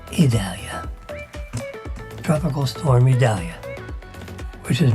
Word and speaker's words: Idalia: Oh, I pronounce like E. Idalia.